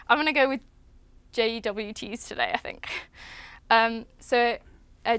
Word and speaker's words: JWT: And in this case, we've chosen to use JSON Web Tokens or JWTs or JOTs, depending on who you talk to, they say to pronounce it differently. I'm going to go with JWTs today, I think.